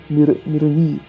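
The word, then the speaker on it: Méranie: esposa legítima, Ingeburga, e Mirania, a mulher tomada pelo rei a mulher ilegitimamente tomada pelo rei da França, se chamava Miranie, que se escreve Meranie.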